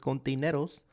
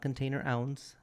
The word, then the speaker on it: Kontaineroz: it but uh yeah I prefer it the right way containeros not container ounce not container awesome but